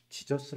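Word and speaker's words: Jesus: 조금 좀 공부를 하다보니까 예수 란 이름 이 지져스 라고 발음하는 j 맨앞에 있는 제이를 영어권에서는 이 음으로 발음하지 않고 질수 로 발음 한다는 사실을 알았습니다 즉 예수 라고 발음해야 되는데 제이가 잡고 지울수 로 발음 되니까 영어권에서 예수가 지쳐 쑤가 된겁니다 그리고 요한은 좋으니 된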